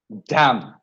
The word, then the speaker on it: damn: Now, N is not pronounced if words end with MN. You know that. Autumn, column, dam, hymn. We are not pronouncing the N.